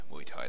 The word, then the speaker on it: Muay Thai: Muay Thai, that's how you pronounce it.